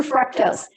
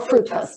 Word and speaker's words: fructose: want to protect that watch for fructose that are fructose you can pronounce it either way that's a sweetener and